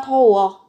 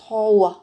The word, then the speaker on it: 더워: Cái từ này các bạn sẽ phát âm nhẹ nhé, gần như âm thờ ấy, không phải là to mà sẽ là thò.